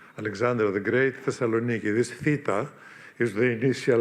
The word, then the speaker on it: theta: This theta is the initial letter does not exist in Latin alphabets or in your alphabets certainly it's th pronounced th together theta I think Spanish people